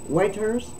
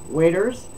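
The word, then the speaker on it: Watters: joski and Waters Waters waiters maybe it's pronounced different because it's not Waters it's w-a-t-t-e-r-s to me it would be waiters press uh Joe ski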